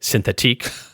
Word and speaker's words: Synthetique: which, to be clear, I am pronouncing the correct way, Synthetique.